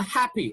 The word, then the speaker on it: happy: and dentist okay now happy look at this one now you've got five letters but how many sounds only four sounds because two p's have only one sound okay two p's have only one sound here in this context okay and here bread